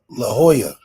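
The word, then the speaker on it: La Jolla: like Le said like Lola how do you pronounce it is it laa it's uh La Hoya La Hoya okay La Hoya like left I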